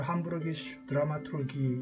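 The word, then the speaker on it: Hamburgische Dramaturgie: 함부르크 희곡문, 독일어로 함부르기슈 드라마투르기 이렇게 발음하죠.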